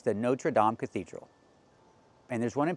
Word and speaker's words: Notre Dame: No, we don't say the Notre Dame Cathedral. It's the Notre Dame. We need the ah sound. Like hot and stop. Dame. It's the Notre Dame Cathedral.